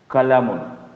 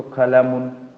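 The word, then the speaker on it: قلم: इसको अगर हम प्रोनाउंस करेंगे तो कलमुन, कंप्लीट प्रोनाउंसिएशन। इसको प्रोनाउंस करेंगे किताबुन, कंप्लीट प्रोनाउंसिएशन। लेकिन जब हम बोलते हैं, स्पीक करते हैं, ठीक है, तो हम क्या करते हैं, ये जो तनवीन इसको हम ओमिट कर देते हैं और इसके जगह सुकून कर देते हैं। तो क्या पढ़ेंगे, कलम, किताब।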